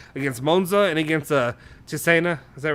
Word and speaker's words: Cesena: because I also said against Monza and against Cesena, is that right?